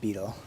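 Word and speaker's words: butyl: I think it's pronounced boutel. The guy in the video said beetle. He was an American.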